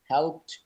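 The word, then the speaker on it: helped: হেল্প, হেল্পড, হেল্পড, সাহায্য করা। শেষে ডি আছে, টি এর উচ্চারণ হবে ট।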